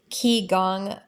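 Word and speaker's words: qigong: on YouTube is there is a lot of key gong massage hand massages and that is spelled q-i-g-o-n-g and they have an impact in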